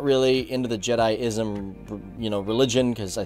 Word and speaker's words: Jediism: minute leroy you're pronouncing jedism or jediism as jedism it's pronounced jediism now i actually called him up and he